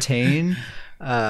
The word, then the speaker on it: Tane: I guess let's talk about StamSorc for a minute, because I can't stop thinking about my StamSorc, Tane, which is spelled like Wayne but with a T.